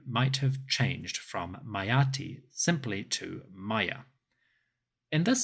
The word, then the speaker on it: Meritaten: Additionally, although Meritaten's name might have been pronounced Mayati, the hieroglyphic spelling was still Meritaten.